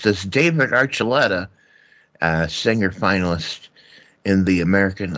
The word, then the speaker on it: Archuleta: And I know how to pronounce this. David Archuleta, singer finalist in the American Idol, don't you know?